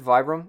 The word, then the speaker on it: Vibram: it's not a v100 Vibram our v room is the right way to say it which is what you